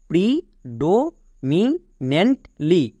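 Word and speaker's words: predominantly: আমি বলেছিলাম NANT যদি একসঙ্গে থাকে এর জন্য নেন্ট উচ্চারণ করবা। নেক্সট এল ওয়াই এর জন্য কি হয় লি, তাহলে পুরোটা কি দাঁড়ালো প্রি ডো মি নেন্ট লি, প্রিডো মিনেন্টলি।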